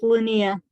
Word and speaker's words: Linnea: It's pronounced Linnea.